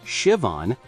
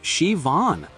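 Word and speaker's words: Siobhán: When told it was pronounced Shivon, he became visibly frustrated. But there's no V in it. This is a scam. You should spell it phonetically. Shivon.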